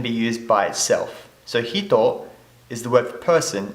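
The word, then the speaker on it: 人: Now jin in the kun reading, or person in the kun reading, is pronounced as hito. So the kun and the on. Pronounced as hito. In the on reading, it is pronounced as jin, nin, and many other things.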